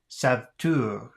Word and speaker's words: sauveteur: Say the following words. Do not pronounce the E.